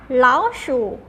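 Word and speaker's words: 老鼠: ทำ นี้ นะ คะ ออก เสียง แบบ นี้ ค่ะ เรา ชู้ เล้า shoes are ท่า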